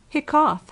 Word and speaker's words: hiccough: Hiccough has the sound of cup.